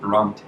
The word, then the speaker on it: Bronte: capable willing and determined Aaron let's talk about brong okay is that how you say it yes